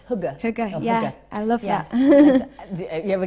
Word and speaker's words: hygge: How do you say that word? I think it's hugger.